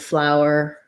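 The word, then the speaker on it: flour: about this as well flower and flower are the same pronunciation um they both have an ow and an er um so just notice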